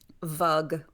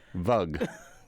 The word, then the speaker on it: vug: Vug. Vug. Yeah. How do you yeah. spell that? Is it V-U-G like bug? Yeah.